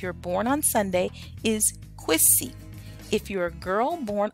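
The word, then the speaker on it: Kwesi: were born on Sunday your name would be quiz see now here they have it written as quazy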